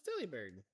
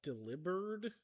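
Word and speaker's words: Delibird: Oh, it's Dely Bird. I've heard it's also could be pronounced delivered. Like delivered.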